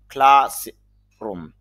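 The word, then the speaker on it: classroom: টান হবে কারণ হল এখানে কলন যে চিহ্ন আছে এটা দেওয়া আছে এজন্য দীর্ঘ টান বোঝানো হবে আবার এখানে খেয়াল করেন উপরে স্ট্রেস মার্ক দেওয়া হয়েছে এজন্য একটু চাপ দেওয়া হবে তাহলে একসাথে যদি আমরা বলি ক্লাস রুম ক্লাস রুম শ্রেণিকক্ষ clean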